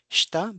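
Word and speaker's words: した: It's shita, but it is pronounced as shita because of the vowel devoicing.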